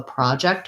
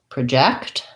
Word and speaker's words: project: that don't follow that where it does work is in words like um the noun project i have a project i'm working on versus project i'm going to project my voice the verb or record